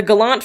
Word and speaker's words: Galant: you're thinking of galuf Galan is just gallant pronounced funny because it's it's a maritime thing if you go onto